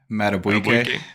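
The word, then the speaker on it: Madubuike: Matabuike.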